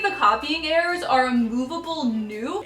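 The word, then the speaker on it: ν: copying errors are removable new it looks like a V but it's a Greek letter that is pronounced like n so I'm just showing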